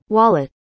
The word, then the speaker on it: wallet: called parking VALET, but we don't have Crypto VALET! I don't know why many people think that this is more classy, but we don't have such a thing at all! It's WALLET..